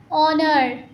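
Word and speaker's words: honour: Pronunciation देखो ना क्या है? ऑनर। किसकी आवाज निकाल रहा है? ओ। और ओ यहां पे क्या है? वोवेल वर्ड्स है। तो एच यहां पे क्या हुआ? साइलेंट।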